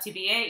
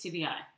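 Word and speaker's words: tibiae: And notice this ae in Latin is pronounced as a long I sound. I. It's not to be a, it's to be I.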